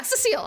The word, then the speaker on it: Cecile: We have Cecile. Cecil. Yeah, Cecile. I pronounced it correctly that time the first time.